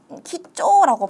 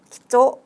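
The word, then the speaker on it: 貴重: 신중 말고도 뭔가 귀중하다라고 할 때도 키쪼라고 발음이 되고요.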